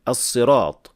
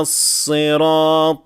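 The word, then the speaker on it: الصراط: Once more, do not over-elongate the alif in the word as-sirat. You should always keep it to 2 counts only.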